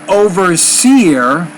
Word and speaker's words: overseer: see more overseer so put the stress on the second part of that word overseer beneath pictures yeah